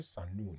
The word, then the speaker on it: Sahnoon: for coming with your name Sanoon right did I pronounce it correctly Yes, perfectly actually.